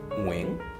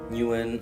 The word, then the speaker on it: Nguyen: your name wrong so my name is pronounced wing right because Vietnamese is very tonal but the coffee is mooing drum wing yeah but Australian say un - behalf of all